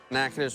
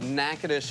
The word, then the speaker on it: Natchitoches: Natchitoches meat pies. We're gonna make the filling. Why are we calling it that? Natchitoches is a town in north central Louisiana.